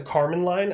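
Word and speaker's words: Kármán line: the atmosphere is the Carmen line it's not spelled like Carmen like your girlfriend Carmen it's spelled in a we really re weird way but it's pronounced Carmen line and it's 100 km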